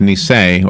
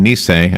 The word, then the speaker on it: Nisei: I you told me off there then it's pronounced me saying when me saying I camera where the accident is what what